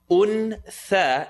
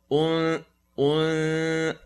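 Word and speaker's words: أنثى: Untha is going to be pronounced untha. Tongue not touch is going to be pronounced untha. وَمَا خَلَقَ الذَّكَرَ وَالْأُنثَى. Remember the oo, remember the cool sound.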